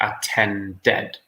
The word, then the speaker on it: attended: With number 3, however, the infinitive ends in a D. So we pronounce the E. So we say attended.